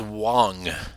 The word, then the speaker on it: Wang: culture right Wang obviously Wang is Chinese right if you know culture that's not the right pronunciation all right that's an Americanized pronunciation based on just spelling alone Wang right because spell